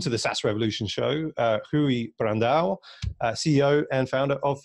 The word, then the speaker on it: Rui: Both of them are right. Rui is how we pronounce it.